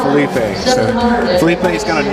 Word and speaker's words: Felipe: charity so please Felipe Felipe Felipe Spanish for Phil would be right there that's right uh and we've called this bowl Philippe slippy slipping yeah everything yeah so just for Tennille we're going to say it right Felipe Felipe is gonna